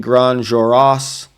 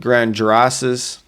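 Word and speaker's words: Grandes Jorasses: Grand juroras. Uh you'd probably say it grand jurasses. Grand Jurasses is probably an English way to say that, but it's actually grand. Uh again, you don't pronounce the s.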